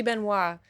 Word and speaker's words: Benoist: tell me for sure I think you pronounce it Ben was right Benoist Beno it should be Beno wait but I I